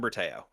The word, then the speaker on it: Bertao: Bertau. Yeah, Berteo.